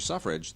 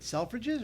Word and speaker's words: Selfridge: Wait, Selfridges or Suffrages? It's called. You pronounce it Suffrage. It's not Selfridge. It's Suffrage, Mr. Suffrage.